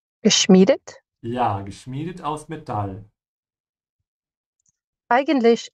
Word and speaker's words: geschmiedet: I.E. pronounce the second one. Geschmiedet?